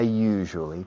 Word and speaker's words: usually: I usually talk to Maria during the programs. La palabra usually se usa muchísimo. Usually. La pronunciación es un poco complicada. You. Es como en francés. Je suis. Je. Usually.